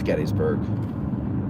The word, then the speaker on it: Gettysburg: That's not how you spell it. It's C-O-F-F-E-E-E-E-E. There's like 7 E's in that one. So, yeah, it's Gettysburg.